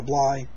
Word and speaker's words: Bly: blind carla blake caller bly i heard somebody pronounce it blah once paul bly carla bly and i've pronounced it that way ever since but i always said blade before that um it's a trumpet